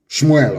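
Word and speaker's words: שמואל: Shmuel, of course, correct pronunciation.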